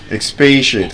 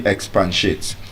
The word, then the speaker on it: expatiate: Expatiate. Can you expate? Not can you expansate.